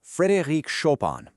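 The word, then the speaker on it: Frédéric Chopin: Let's talk about Frederick Shopan. That's pronounced Frederick Shopan.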